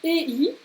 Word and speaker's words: ei: Le EI, qui se prononce Ei. EI, AI, immer Ei.